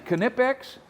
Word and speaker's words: Knipex: bucket full of tools you bring but man knipex see I got the pronunciation right this time boys whether it's these